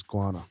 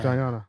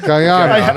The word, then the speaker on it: Guyana: That's where I get all my molasses is guana. Is Guyana? Yeah, Guyana. No, exactly. Guana. So You're nailing the pronunciation. Guyana.